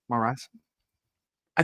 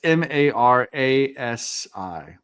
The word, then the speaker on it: Marasi: Maras. I think it's Yeah, I think they pronounce it differently in the book. I don't know. It's M A R A SI. Marasi. Marasi.